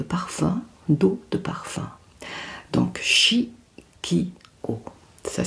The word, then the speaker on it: Chiqio: marque de de parfum d'eau de parfum donc chi k o ça s'écrit C H i Q i o voilà